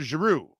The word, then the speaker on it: Giroux: zero right or giroux giroud right it's claude giroux right i think it is right that's how